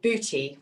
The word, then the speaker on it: bhuti: I am a yoga teacher and yoga therapy for about 20 years and I started a centre called bhuti, which is spelt not beauty but bhuti, b-h-u-t-i which is